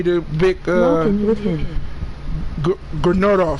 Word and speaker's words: Gryffindor: Grenardov. How you say it? How you say it? Janindov? How you say it again? Gryffindor.